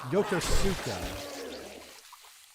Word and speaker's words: Yokosuka: Is it Yaku? No, yeah, Yokosuka. Yokosuka.